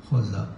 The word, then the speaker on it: Xhosa: Pour Xhosa, ça s'écrit K-H-O-S-A. Xhosa. C'est Xhosa. Xhosa. C'est-à-dire ça se prononce de la gorge.